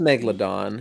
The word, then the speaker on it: megalodon: Did you say a megalodon or is it just a megalodon? It's just megalodon.